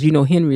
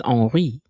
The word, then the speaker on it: Henri: Because Henry is spelled the same in French, but it's Henri.